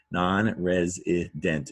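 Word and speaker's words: nonresident: Non-resident is a 4-syllable word. Stress on the res. Now notice res sounds like res, but it's an S.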